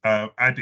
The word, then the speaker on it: Adi: Am I pronouncing that correctly? That's very correct. Adi is correct. So AD, that's Adi, sorry.